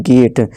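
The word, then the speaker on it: gate: नहीं ठीक है दोस्तों जी ए टी ई गेट पढ़ेंगे जेट नहीं गेट बी जी बैग पिग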